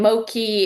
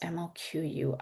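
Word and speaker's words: Moqui: And Moki is Oh, how is this spelled? It's not ML Ki. It's M M M O Q UI. Yes, mui.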